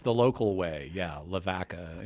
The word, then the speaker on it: Lavaca: Pronounced the local way, yeah, Lavaca. Lavaca, instead of Lavaca.